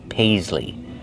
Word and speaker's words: paisley: That pattern is called paisley. Paisley. Use the long a like say and pay. Pais. Use the z sound like zebra.